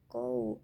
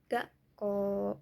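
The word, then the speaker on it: 学校: gak koo gak koo O sama U di sini juga gunanya untuk memanjangkan huruf O-nya. Jadi dibacanya bukan Gou tapi dibacanya gaq ko. O-nya panjang.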